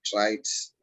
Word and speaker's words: traits: Remember, this word is like rain. Traits. Traits. That's right. It's that Traits. open A sound.